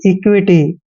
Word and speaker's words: equity: Next word देखिए EQUITY दोस्तों ई का उच्चारण ई ही करना है, क्याउ को हमने आधा कै पढ़ना है और मैंने आपको बताया था यू के बाद जब भी आई आता है तो यू आई का उच्चारण व और ई की मात्रा करते हैं और टी वाई को टी पढ़ते हैं।